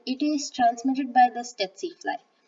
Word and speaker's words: tsetse: And then there's Trypanosoma gambiense, which causes African sleeping sickness, and it is transmitted by the tsetse fly. The T is silent in that.